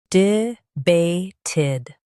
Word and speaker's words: debated: Stress bay and keep d soft.